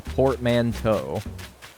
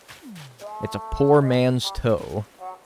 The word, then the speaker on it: portmanteau: it's not without showing me proof it's a Portman toe thank you it's a portmanteau Poor Man's toe try the zoom trick again nope don't work